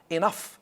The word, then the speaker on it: enough: Enough, like stuff.